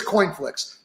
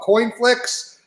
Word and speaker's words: CoinFlix: you would get the pick it's here it's coin flicks and in coinflix and we're the only company